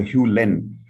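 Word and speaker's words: Hew Len: by this gentleman here his name is dr hugh len and this is how it is pronounced dr hugh lennon says below that dr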